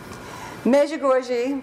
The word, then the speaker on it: Medjugorje: right so let's begin major gorgey and the end-times measure goji that's the way Mickey our tour guide pronounced the name of his hometown I entitled this and the